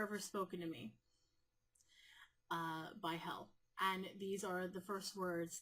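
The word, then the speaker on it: Helle: Hel, Hela, which is spelled that way, but I've traditionally seen it spelled as H-E-L-L-E. And it's pronounced Hela.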